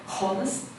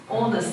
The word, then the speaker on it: honest: also some pronation mistakes like honest honest yeah do not pronounce h yeah but the the